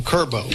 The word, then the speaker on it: Kirbow: I'm here with Layla Tucker and I don't want to say it wrong, Kirbow. Kirbow.